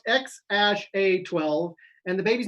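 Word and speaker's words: X Æ A-12: made it this mm-hmm the name is pronounced ex ash a 12 and the baby's name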